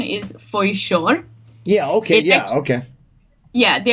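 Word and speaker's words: Foișor: We have this this letter in Romanian language. It's sh, like bush. Yeah. The sh at the end, and it's just like an S with like a comma underneath, and that's how it's spelled.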